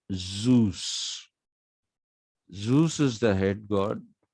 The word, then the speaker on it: Zeus: It is not pronounced Zeus. It is Zeus.